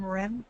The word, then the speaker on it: Maren: And I actually pronounce my name Marin. It's okay. It's all right. It's like Marin County.